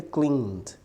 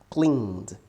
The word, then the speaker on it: cleaned: Ed no Clean fica cleaned cleaned né essa letra e aqui a gente não pode pronunciar não é cleaned OK Clean cleaned Number